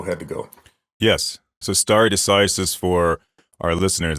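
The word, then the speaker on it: stare decisis: deasis for our listeners that's Latin it's horribly uh pronounced Latin but that's not Pastor Lang's fault it's just how we all say it it's star deisis but it's in classical Latin you'd say star uh deisis right so to stand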